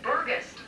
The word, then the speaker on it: Burgess: I tell people it's gust, like a gust of wind, or gust, and that's a good way to remember it and get the pronunciation.